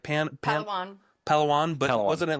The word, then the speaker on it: Palawan: How do you pronounce the beach? It was like pan palan. Palawan.